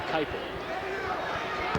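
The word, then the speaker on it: Kuiper: shoots it at 65% her last name is spelled kui p e r Kelly Kyper didn't we decide earlier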